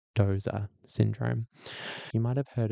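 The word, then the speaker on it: Doose: who was getting frustrated that everyone calls it Duce syndrome in Australia, but I'm told that it's Doza syndrome.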